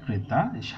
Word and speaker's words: ক্রেতা: হ্যাঁ, ক্রেতা, কের উচ্চারণ মানে এ ধ্বনির উচ্চারণ স্বাভাবিক হচ্ছে, ক্রেতা।